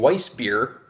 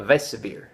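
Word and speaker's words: Weissbier: but I was saying weiss beer because I'm American i'm pronouncing the w as as a w I should be saying a vesa beer vase severe German w pronounced vee so thanks to I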